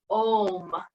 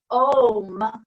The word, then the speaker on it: Om: It's actually a really cool word because to make the sound of it, the A starts more in the back of the throat, the U starts to